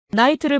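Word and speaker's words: knight: 나이트를 보세요. K는 묵음이고 GH도 발음이 안 됩니다.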